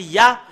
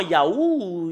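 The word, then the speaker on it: יה: translitération c'est halallaluya et quand les Hébreux le prononc son ya bah il faut pas le changer avec d'autres choses il faut pas le M il faut pas le changer en Yaou il y a euh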